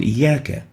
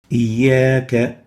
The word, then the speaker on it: إياك: Let's pronounce the word إياك. إياك. And let's concentrate on the alif, a vowel in the word إياك. And let's listen again. إياك. We realize that we have extended the vowel alif for a certain